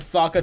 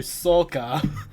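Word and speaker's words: Sokka: realized they tried to they changed the names to try and sound more Asian like they changed Ang to on like angu and Saka to SOA and iro to EO oh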